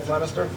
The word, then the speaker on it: Flemister: And we have ADA India James Flemister, as well as, I'm sorry, did I mispronounce that, Flemister?